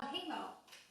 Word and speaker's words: Kumihimo: And I'm going to let you pronounce that one. Kumihimo.